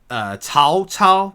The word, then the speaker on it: Cao Cao: Cao Cao is how you're supposed to pronounce it in, as far as we know.